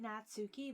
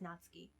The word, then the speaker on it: Natsuki: Natsuki it's funny cuz they spell it Natsuki but it's actually pronounced in Japanese not ski we also got Yuri